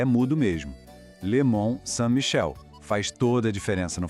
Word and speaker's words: le Mont-Saint-Michel: Esquece o N e o T no final, a gente não pronuncia. O som vira nasal.